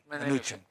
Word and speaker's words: Mnuchin: You need the Secretary of Treasury is how do you pronounce his name? Mnuchin.